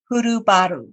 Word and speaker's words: Hurubaru: legacy podcast i have with me today purubaru did i pronounce that correct lee perfect he did awesome